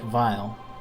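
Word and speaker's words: Weil: was intentional but like his name looks like wiley but it's pronounced like vile and he's still the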